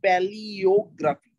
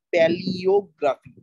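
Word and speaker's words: palaeography: তারপরেরটা 10 নম্বরে যেটা আছে প্যালিওগ্রাফি। উচ্চারণটা খেয়াল রাখো, এখানে কিন্তু এ ই থাকলেও উচ্চারণ হবে ই এর মতো। প্যালিওগ্রাফি, PALA-EO, paleo, PALA-EO, প্যালিওগ্রাফি।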